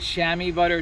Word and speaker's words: Chamois Butt'r: butter right here and that's how you say it chamois butter it's french it's used to put